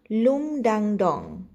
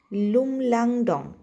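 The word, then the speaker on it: Lumlangdong: শুরুতে নাম ছিল লুমডাংডং। দাড়ান উচ্চারণটা বোধ আমি ভুল করলাম। হবে লুমলাংডং।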